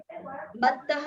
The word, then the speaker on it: मत्तः: यहाँ देखो मत एच के नीचे डॉट है तो उसे हो जाता है मतः, ठीक है।